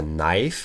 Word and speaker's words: knife: Un couteau, c'est a knife, on ne prononce pas du tout le K.